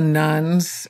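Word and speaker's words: nones: you know we hear about the nuns n o NES not nuu NS I always feel like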